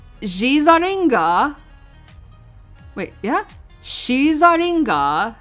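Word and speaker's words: シザリガー: Shizaringa, yeah, that's how it's pronounced, is known as the rogue Pokemon.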